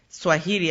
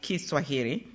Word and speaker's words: Kiswahili: his nation to adopt Swahili, as Americans say it, but actually we should pronounce it Kiswahili, as a national language, and embraced the title Mwalimu, which means teacher, in Kiswahili.